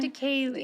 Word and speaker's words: Triticale: Triticale, did I pronounce that one? Triticale.